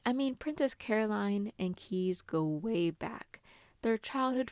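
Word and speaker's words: Caius: Nicole is engaged to Keys spelt like the university and pronounced like key from Shiny who has been very neglectful of their relationship to put it lightly.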